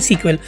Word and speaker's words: SQL: technical लोगों के बीच इसे एसक्यूएल अलग से नहीं कहते इसे प्रोनाउंस करते हैं सीक्वेल तो आगे इस पूरी